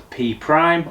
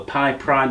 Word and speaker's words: Pi Prime: It's called the P Prime or the Pi Prime, depending on how you want to pronounce it.